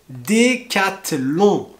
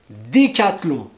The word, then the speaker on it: Décathlon: alors une marque très connue aussi cédé catelan décathlon décathlon si tu as d'autres marques à me proposer qui sont difficiles à prononcer tu me veux tu me les met